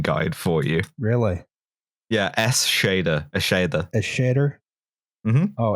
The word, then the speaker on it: Eschede: changed my my zen caster name to a pronunciation guide for you really yeah s shader a shader a shader oh s shader i